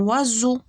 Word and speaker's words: oiseau: Par exemple, un oiseau. كنسمعوا Z. Un oiseau. ها هي S جاتنا ما بين I و E.